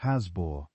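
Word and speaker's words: Happisburgh: But even those are relative newcomers compared to the evidence from Hapisburg in Norfolk. Hapisburg, pronounced Hazbbor, by those who grew up near it, is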